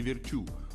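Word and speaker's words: Virtue: В этом она была примером даже для олимпийской чемпионки Тессе Virt, у которой абсолютно фанатичное отношение к работе. Кстати, именно так правильно произносить её фамилию с ударением на последний слог.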